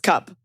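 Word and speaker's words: Cuup: by this company called I think it's pronounced cup excuse me cuu p c it's cup and they have a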